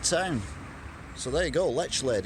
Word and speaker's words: Lechlade: I did buy a Dr Pepper diet, and they told me it's pronounced Lechlade, so I was doing it wrong.